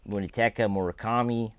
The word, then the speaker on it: Munetaka Murakami: I believe they will try to sign Munetaka Murakami. I believe that's how you pronounce his name.